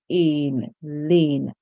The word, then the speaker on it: Lane: not a right so that's how we have Lane and this is the lane that we see